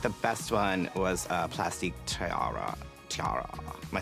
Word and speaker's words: Tiara: But I felt like the best one was Plastic Tiara.